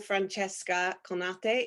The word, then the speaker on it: Francesca Conate: talking to the beautiful Francesca Conate. Is that right, your That pronunciation? that was so beautifully pronounced. Yes. I did it the Japanese way.